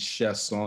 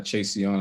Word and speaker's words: Chassion: say something about my last name is chef song it's not chasey on hands then it's spelled